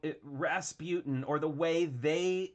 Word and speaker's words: Rasputin: huge it was called rasputin or the way they pronounce it rasputin because they needed to have it be three syllables to fit in the song it was a very